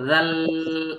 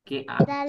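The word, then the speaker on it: دال: এইটাও একই জায়গা থেকে উচ্চারণ হবে, জিহ্বার আগা। এই যে জিহ্বার আগা, সামনের উপরে দুই দাঁতের আগায় লাগাতে হবে। হ্যাঁ। দাল। দাল, অনেকে এরকম বলতেছে, কে জানি এরকম বললো, জাল।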